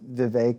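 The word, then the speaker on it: Vivek: government spending along with Viv rhymes with cake ramaswami that's can be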